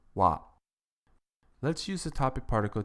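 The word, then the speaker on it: は: topic into the conversation it is written as ha but is pronounced wa let's use the topic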